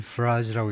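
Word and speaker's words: Farage: 예.이 이 양반이 유명한 나이젤 프라즈라고 읽는데요.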